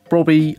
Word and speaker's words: Brobbey: it is an EREDIVISIE Saudi League hybrid with Brobbey up at left striker. Now, I definitely know that is how you pronounce it.